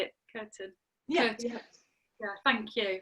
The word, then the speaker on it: Kirtan: Kirtan.